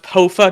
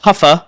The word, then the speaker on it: Poafa: Yes, and it is pronounced Poafa, not Poafa, not Puffa, as Tubbo said.